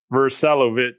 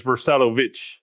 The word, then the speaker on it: Vrsalovic: Vrsalovic. Well, the Croatian way is Vrsalovic.